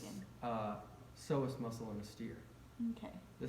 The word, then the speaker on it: psoas: okay, so the anterior muscles, iliosois Psoas. Yeah. group. So the okay. P is silent.